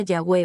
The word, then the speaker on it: Yahweh: La palabra YWH, en hebreo se escribe sin vocales y se pronuncia Yahweh o Yahvé, que significa el que es.